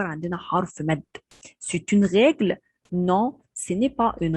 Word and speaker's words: règle: règle، ولازم أمد شوية في الحرف ده لأن الأو عليها أكسون غاف، والأكسون غاف ده بيعتبر عندنا حرف مد. c'est une règle، non ce n'est pas une règle.